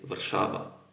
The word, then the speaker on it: Warszawa: I should say Warszawa, because this is how it's pronounced in my language.